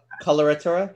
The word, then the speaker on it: Coloratura: Collura Torah I think coloratura yeah all right it's like the word color and then a Torah yes or the word